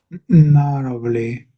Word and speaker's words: narrowly: said this before, so I end up saying narrow and then very quickly put the lee sound on the end because it does sound a bit weird, that word. Narrowly, narrowly. The WLY is a bit of a strange sound, but it is a bit odd, that one.